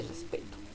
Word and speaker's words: respeto: Respeto. Muy bien. P es nuestra sílaba tónica, pues se pronuncia más fuerte que res y to.